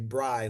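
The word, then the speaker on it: braai: there uh key dishes Bri right I had to Google the pronunciation of this but it's actually Bri like b r y is how it is pronounced but it's South African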